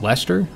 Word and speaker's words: Leicester: And then the last one is, thank you for the pronunciation assistance with this one. Oh my god, I was so off. Apparently it's Leicester, if I'm right now.